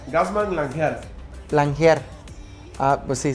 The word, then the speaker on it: Gassmann: ¿Cómo se pronuncia? Gazmán Lanjar.